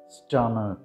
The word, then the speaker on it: Starmer: The British pronunciation is Kier Starmer. R is silent in British pronunciation.